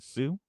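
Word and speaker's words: Hsu: Ted do you know it's HS e is it Sue I guess so Stephanie Sue yeah she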